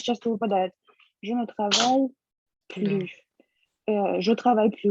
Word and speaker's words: plus: Потом, если в значении больше не, Мгм. то S не читается.